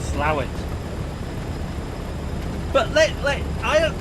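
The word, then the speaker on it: Slaithwaite: these pronunciations aren't we to me it's spelled s-l-a-i-t-h-w-a-i-t-e yeah that is slave weights but the northerners call it slow it but let's let i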